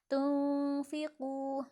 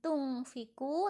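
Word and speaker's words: تنفقوا: Bacanya seperti membaca NG tapi tidak dipantulkan, melainkan agak diseret. Tunfiqu, bukan tungfiku tapi tunfiqu.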